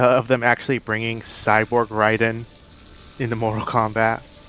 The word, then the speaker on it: Raiden: Well, you know how I mean, his name is pronounced Ryden. The other one's Raiden.